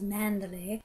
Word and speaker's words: Manderley: Manderley sounds better when pronounced with an English accent as Mandalay, his sprawling country estate